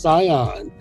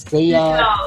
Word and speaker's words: Sayonne: Her name is spelled Sayonne, and it's pronounced Sayonne. So just to make sure y'all don't go messing up the name, okay? Yeah, don't say Sayonne. No Sayonne, no nothing. It's Sayonne, like Dion, Tion, Sayonne.